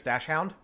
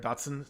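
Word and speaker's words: dachshund: Also, another really good YouTube channel is Crusoe, the famous dash hound, or Dotson is how it's pronounced.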